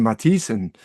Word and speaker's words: Mathisen: oh wait you mean Matisen. So they don't really say the th the same way.